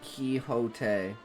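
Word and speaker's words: Quixote: It's a direct quote from the Dawn Quinn Quinn Quincadi movie pronounced Kiote. Oh, Kyote.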